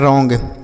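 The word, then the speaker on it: wrong: एलोंग डब्ल्यू आर है तो W silent है आर से लिखेंगे र ओ एन जी को ऑग लिखा है रॉन्ग क्या हो गया रॉन्ग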